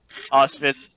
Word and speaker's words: Auschwitz: I don't know if I pronounced that right. Auschwitz.